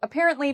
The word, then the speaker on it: apparently: So for apparently, the second syllable is what we say with emphasis. So it's the part we say louder and longer.